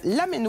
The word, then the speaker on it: ramen: Les lamen à l'honneur cette semaine à Paris pour une Lamen Week. Ramen, c'est notre mot du jour. Ça se prononce en fait lamen.